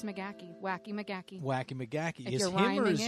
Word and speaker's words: Magaha: McGee that's not it is how you pronounce it I said Makaha when I married him yeah but it's McGee wacky McGee wacky McGee is you both yeah